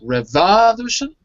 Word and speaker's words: revolution: it's on the Vong revolution I think of evolution listen to me revolution revolution will be in that case in the last one revolution the third book not on the last note on the third not the last of the third revolution or the Heather abortion